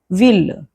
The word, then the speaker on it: ville: famille bouteille oreille famille bouteille oreille However, there are exceptions when actually the L will be pronounced.